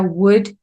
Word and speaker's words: would: Recuerda que la pronunciación es la primera letra, la tercera y la quinta. Would, would, would. No es una G, es una doble V.